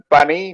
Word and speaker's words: bunny: Doug, I'd like to say that it's pronounced bunny, not buzzy.